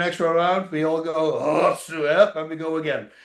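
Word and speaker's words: 押忍: lot of people say os. I go, "Oh, you're saying it wrong." What? What? Yeah, it's Japanese. It comes from two words, oshi and shinobu, and they made osu from it. So you say osu, and it means Awesome.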